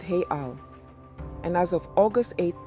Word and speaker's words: real: let's talk currency Brazil's currency is the Brazilian real pronounced hey Al and as of August 88 2024 the exchange